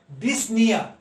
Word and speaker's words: dyspnea: Dyspnea, here P and O should not be pronounced. The word is that the dyspnea.